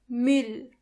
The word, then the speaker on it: Müll: This letter is pronounced ü. To get the sound, start with a normal u and then make your lips even closer to each other.